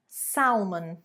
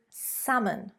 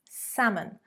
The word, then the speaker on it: salmon: It is not salmon, salmon. It is salmon, salmon. So there you can see quite simply that it is a silent L. We don't pronounce the L in English. We say salmon.